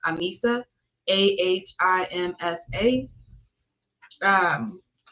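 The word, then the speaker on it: ahimsa: meet it will be about nonviolence which is pronounced Amisa a i Ms a um and thank you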